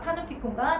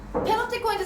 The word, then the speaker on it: 파놉티콘: 그것까지 얘기를 해놓고 있어서 제재가 파놉티콘과 전자 파놉티콘이에요. 페놉티콘인데 선생님이 자꾸 파놉티콘이라 얘기하는 건 페놉티콘으로 발음해도 되고 파놉티콘으로 발음해도 되는데 선생님이 학교 다닐 때는 파놉티콘이라고 설명해서 파놉티콘이라고 입이 들려서 선생님이 자꾸 파놉티콘이라고 말씀드리는 겁니다.